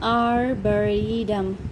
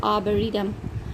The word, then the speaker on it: arboretum: Again, arboretum, arboretum, arboretum in America and R silent, so arboretum, arboretum in British, which means a botanical garden devoted to trees.